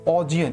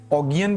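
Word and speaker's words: Augean: ऑजियन, इसकी याद रखना प्रोनाउंसिएशन क्या होगी, ऑजियन। बहुत सारे लोग इसको ऑगियन भी पढ़ते हैं, आप एक बार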